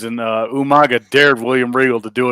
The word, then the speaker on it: Umaga: wrigley used to do he would call him you manga because for people that don't know he would regal used to like mispronounce people's names and uh umaga dared william riegel to